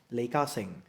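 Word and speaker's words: Li Ka-shing: En plus, direct, c'est Caching, donc Li Caching en chinois qu'on dit. Les parents donc qui ont donné ce nom-là, au côté chinois, ça se prononce Li Ka-sing.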